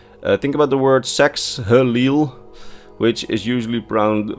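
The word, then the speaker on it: Saxhleel: Think about the word sexil which is usually pron pronounced as says leil. So the h is completely silent and the the x's get pronounced as a z's.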